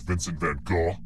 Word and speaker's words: Vincent van Gogh: first question which famous painter was roommates with Vincent van Gogh yeah that's how you pronounce his name I was about nature these